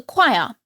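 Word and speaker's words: quire: the Stalls in the choir spelled with a q but pronounced the same this daily singing is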